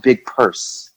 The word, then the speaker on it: Big Perc: It is pronounced Big Perc. Is it? Big Perc, like Big Perc Universe.